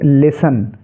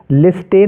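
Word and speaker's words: listen: इसको हम क्या पढ़ेंगे लिसन लिसन पढ़ेंगे लिस्टन नहीं पढ़ना है लिस्टन आप पढ़ेंगे इसको तो गलत हो जाएगा टी का कोई उच्चारण आपको नहीं करना है ओनली लिसन पढ़ना है ऐसे ही ओ एफ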